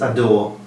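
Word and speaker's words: Ha d'Or: o r he's trained by uh willie mullins adore and it's only had two runs the first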